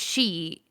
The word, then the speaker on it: sidhe: So like Mm, one is a one word, which is just she, and then one is like a two word pronunciation.